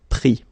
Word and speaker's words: pris: Same thing here, final S not pronounced, so prendre, pris.